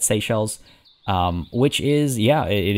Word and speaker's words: Seychelles: is from the seychelles i'm pretty sure is how you say that seychelles um which is yeah